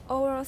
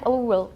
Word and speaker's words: oral: Oral sounds. Not oral, oral. Oral. Oral. Oral. Not O, don't say O, just say R. or Yeah, or that's oral.